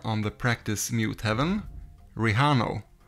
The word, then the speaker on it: Rejano: the practice mute heaven rijano or rijano if you attempt the spanish pronunciation there will be chapters